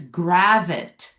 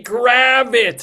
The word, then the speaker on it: Gravitte: First of all, it's gravit like a rabbit.